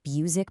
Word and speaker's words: Buzek: You know, to really set the stage here, Greg Buzek, that's pronounced Buzek, by the way, he's the president of IHL Group, and he put it perfectly.